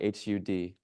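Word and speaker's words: Har: when we chant HUD it's spelled h a r but it sounds like h u d HUD and we chant from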